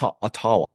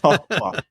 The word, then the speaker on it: Ottawa: That's how they say it. Like the settlers said it. It's Ottawa.